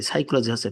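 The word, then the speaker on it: psychology: সি এইচ ও এলজি সাইকোলজি পি কিন্তু hidden কিন্তু সাইকোলজিতে পি ব্যবহার করা হয়েছে মনোবিজ্ঞানশি স্টুডিস স্টাডিস সাইকোলজি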